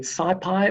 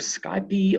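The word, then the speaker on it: SciPy: to call it numpy then you get SCI pie or sky B or side P I quite like the fact that you can pronounce it anywhere you like and you import those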